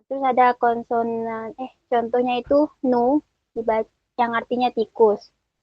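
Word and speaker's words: หนู: Nah, terus ada konsonan, contohnya itu nu, dibaca, yang artinya tikus. Di sini tuh ada konsonan hohib, nonu, u yang panjang, dibacanya nu, hohibnya cuman sebagai penentu nada si nonu ya.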